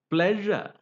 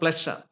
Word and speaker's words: pleasure: or leure you know that's the sound pleasure it is not a pleasure it is pleasure between sha and J so that is sound